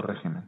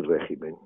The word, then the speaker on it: régimen: o sí, o régimen, sí. En España no hay régimen. El régimen, la palabra de origen latín, latino, sin acento, régimen. Régimen, dicen los italianos, bueno, parece que pronuncia mejor el latín.